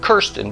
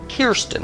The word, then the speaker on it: Kirsten: Not Kirsten, but Kirsten. That's your name.